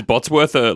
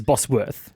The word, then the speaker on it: Bosworth: And not at all accurate. Yeah, this is Bosworth.